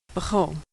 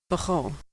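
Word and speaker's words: בכל: This one's a tricky one. Bechol. The trick here is that it uses the unusual O pronunciation of kametz. Bet, shva, chaf, kametz, and lamed. Bechol.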